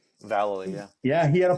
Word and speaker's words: Vallely: Vallely? Valley, yeah.